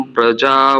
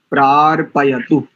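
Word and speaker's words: प्रार्पयतु: का अंतिम शब्द देखो प्रार पयत पार नहीं बोलेंगे इसको प्र प्रार पय पपय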